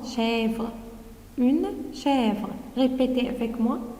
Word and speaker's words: chèvre: Et vous voyez, je prononce chèvre.